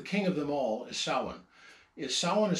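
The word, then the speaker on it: Samhain: uh the the king of them all is sa sa is spelled samhan but it's pronounced sa anyway the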